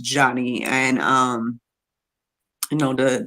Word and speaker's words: Joni: look it up um it's spelled like Joni j-o-n-i but um they were letting us know that it was pronounced Johnny and um you know